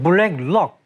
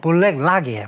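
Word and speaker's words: BlackRock: 블랙록. 근데 원어 발음은 블랙락이에요. 그죠?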